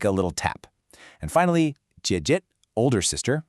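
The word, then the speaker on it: 姐姐: And finally, jiějie, older sister, which is a third tone followed by a neutral tone.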